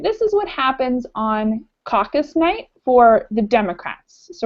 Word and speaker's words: caucus: candidates coaches shirt cocos cheers who's how to pronounce it caucus Kyle caucus-goers conquer scholars separate into group in